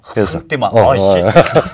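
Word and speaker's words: ressentiment: 그러니까 불어 발음은 허상띠망이고 르상띠망이네. 적당히 발음하면.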